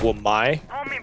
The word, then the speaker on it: Wamai: Wamai? No, 5 seconds to go. that's how you pronounce his name.